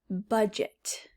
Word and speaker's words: budget: It has a GE that makes a J sound, a soft G. J, as in budget.